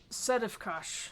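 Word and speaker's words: Sedefkar: was the name again sedifkush so it's it's not spelled like it sounds it is s-e-d-e-f-k-a-r and he's the one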